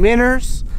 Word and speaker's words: minnows: live bait we're using miners' that's right I said miners' that's the Oklahoma way of saying minnows and the way we